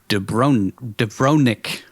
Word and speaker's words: Dubrovnik: The website TV Tropes said that scenes set in Majorca were actually filmed in Dubrovnik, I think is how you say it, Croatia,